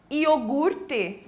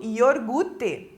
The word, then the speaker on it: iogurte: sem o i né iogurte também as pessoas trocam a posição ali da letra R né e acabam falando yorgute né uma pronúncia errada lagartixa também a pronúncia